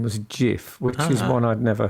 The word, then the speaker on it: GIF: is spelled GIF spelled like gift yet it's pronounced JF what just like Nike is Nike not bike